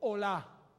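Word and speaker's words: עולה: La palabra holocausto se pronuncia en hebreo olá.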